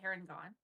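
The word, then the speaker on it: Harengon: Full moon cake is a heron gone. Heron gone? Yep, Is that how you pronounce it? sure is.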